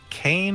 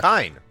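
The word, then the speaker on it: Kain: It is Kane. It's not It's spelled so Kane, it's not spelled that. Kine. Crazy Town Banana Pants? I'm not Crazy Town Banana Pants. I can read katakana, and katakana says it's Kine, so it's Kine.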